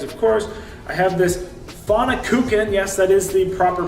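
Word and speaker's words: Pfannkuchen: and the eggs of course I have this fauna cooking yes that is the proper pronunciation I had to practice that one a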